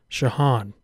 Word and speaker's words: Jean: I know that's not spelled like John. That's because it's pronounced Shahan.